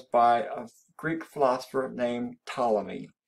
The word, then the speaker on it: Ptolemy: a greek philosopher named ptolemy ptolemy that p is silent and ptolemy said that